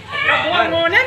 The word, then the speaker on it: Cabongaoan: Paano po ito pronounce? Kabungawan.